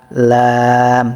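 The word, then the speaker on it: ل: লাম তিন আলিফ টান হবে। মাখরাজটা কি? জিহ্বার আগার কিনারা। জিহ্বার আগার কিনারা সামনের উপরের একপাশের দাঁতের গড়ার সঙ্গে লাগিয়ে লাম উচ্চারিত হয়।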